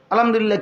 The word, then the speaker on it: আলহামদুলিল্লাহ: হা এটার উচ্চারণ কই আল্লাহ শব্দের শেষে যে একটা গোল হা ছোট এটা কও সুবহানাল্লাহ সুবহানাল্লাহ কইলে তো শুধু লামের মধ্যেই শেষ হয়ে যায় তো আল্লাহ শেষে আরেকটা হাটা কই এশক উইঠে না এত